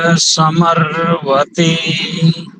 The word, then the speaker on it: समर्वते: संव्रते नहीं करेंगे, समर्वते, समर्वते। ठीक है जी।